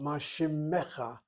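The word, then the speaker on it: מה שמך: Mashimcha. Not shimcha, mashimmecha. You sound that shvana nitamem.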